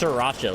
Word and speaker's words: Sriracha: You really go hard on the pronunciation of that first R, huh? It's I kind of just roll right over it. It's just Sriracha, like S I R. I know that's not how it's spelled.